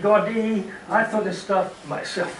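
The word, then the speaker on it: Gaudí: a little bit about Antonio gaudy God D they pronounce it Gordy I thought this stuff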